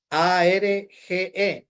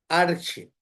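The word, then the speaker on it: ἀρχή: Arge con J, no con g. Arche.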